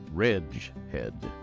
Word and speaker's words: Reghed: we're gonna do this reg head The Wretched Glacier and the redhead folk Ridge Head rhymes with ledge red this is a name